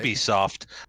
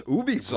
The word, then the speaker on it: Ubisoft: So it's Ubisoft. Right. He works Ubisoft, for- since they are a French company.